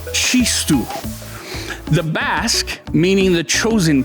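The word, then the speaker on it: txistu: accordion a tambourine and an ancient Basque flute pronounced she stool the Basque meaning the chosen people come from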